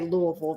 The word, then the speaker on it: Louisville: but somebody came back and they were showing how to actually say Louisville. It's They- Oh, Louisville. Louisville. No. You squeeze your throat. No, it's Louisville.